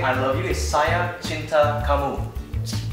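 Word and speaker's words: saya cinta kamu: And if you want to say I love you is sia chinta kamu. Shia chinta kamu.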